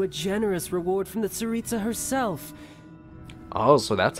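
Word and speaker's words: Tsaritsa: be entitled to a generous reward from the saritsa herself oh so that's how you say it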